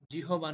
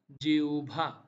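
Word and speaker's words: জিহ্বা: ও ভো আকার ভাউভা জিহবা নয় জেউভা তৃতীয় নম্বরে যে শব্দটি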